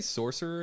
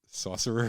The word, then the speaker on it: sorcerer: parts of the world can you say sorcerer again saucerer saucerer oh we found another find another word that I I habitually mispronounced great I'm not going